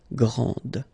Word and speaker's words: grande: This final D is not pronounced. Okay, so grand, and then the feminine form, grande. Okay, so you put this E, and then you get the sound D, D, grande.